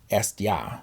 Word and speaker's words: Hestia: As the moon, Estia, Hestia, as a Greek would pronounce it.